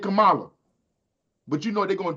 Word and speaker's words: Kamala: is not spelled no damn KLA her name is spelled k a m a Kamala I know how to sound I know how